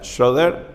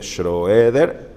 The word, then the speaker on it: Schroeder: videos de gerald scheder se dice en inglés se dice creo que se pronuncia sher pero se escribe schroeder gerald schroeder los pueden